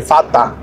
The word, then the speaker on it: Vater: Porque la E con la R suenan como AR, Fata. Fata. Al final, la E con la R suenan como si fuera una A con una R. La E cambia por A.